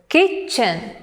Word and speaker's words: kitchen: The word kitchen, the stress is on the first syllable, kitchen.